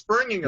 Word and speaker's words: Birmingham: No, you can't pronounce the H, right? It's Birmingham.